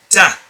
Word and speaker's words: ت: So you pronounce it by attaching the front part of your tongue to the gums behind the top teeth. Ta.